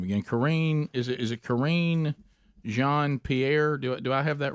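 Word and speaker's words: Jean-Pierre: Corrine, is it Corrine Jean Pierre? Do I have that right? Because I mean, Jacques Chirac. Jean Pierre. Yeah, Jean Pierre. She must be from Louisiana. Corrine Jean Pierre.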